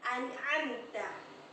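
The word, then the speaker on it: أَنْعَمْتَ: An'amta, oke.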